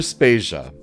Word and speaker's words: Spacia: is Joe debaters and I'm Spacia were brought to you by anonymous dinosaur and rhymes with Asia it's time to appreciate